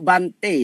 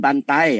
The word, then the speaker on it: Bhante: namaste semua orang hebat hanya untuk Bhante ya Jangan bantae nanti lama-lama jadi banteng ya jadi daerah di high